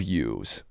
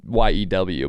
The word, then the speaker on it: yew: He said, I love yews. It's spelled Y-E-W, but I love yew.